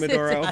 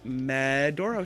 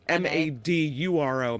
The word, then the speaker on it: Medoro: This is the Medoro Show. Do people text you and say they spelled my name wrong? Is that why you emphasize the meh in it?